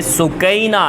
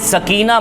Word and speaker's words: سکینہ: اثنا میں سیدہ سکینہ، اصل لفظ یہ عربی لغت میں عربی تلفظ میں سکینہ ہے، لیکن عرف عام میں سکینہ بولا جاتا ہے، لہٰذا میں اسی سکینہ